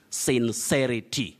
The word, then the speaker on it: sincerity: you don't use them this word is from the adjective sincere to be sincere then you say sincerity sincerity don't say sincerity sincerity the correct pronunciation of that word is sincerity from sincere just like